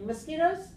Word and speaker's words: mosquitoes: Okay, mosquitoes. How many syllables? Mosquitoes. Uh-huh. 3. 1, P. 2, 3. Okay, where's the stress? Mosquitoes. On the, Mosquitoes. okay, so 2. that's 2. Right, stress on the second syllable.